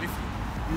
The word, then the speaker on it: Liffey: Yeah, Liffey.